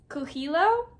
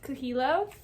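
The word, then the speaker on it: Coelho: The Alchemist by PA kilo I believe that's how you pronounce his last name I looked it up I think that's how you pronounce it kilo so this is the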